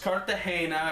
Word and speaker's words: Cartagena: Cartagena as I yeah this is pronounced Cartagena or at least that's what the funny little Spanish lady on YouTube said but produced